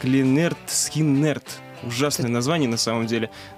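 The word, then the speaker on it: Lynyrd Skynyrd: Произносится она как Линерт Скиннерт.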